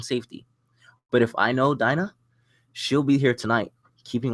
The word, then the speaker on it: Dinah: After that, Dina, I pronounce her name? Dina? Dinah. Dinah felt like I didn't need her anymore, and the birds of prey disbanded.